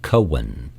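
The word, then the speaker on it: koan: called a Japanese Cohen it is spelled k-o-a-n but pronounced Cohen it is a question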